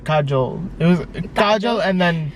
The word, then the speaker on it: Kajol: Like, it's Kajol and why did I say it like that? Kajol.